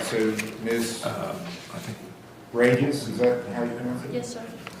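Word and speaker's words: Reyes: Is it Rise? Is that how you pronounce it? Rages. Rages. R-E-Y-E-S?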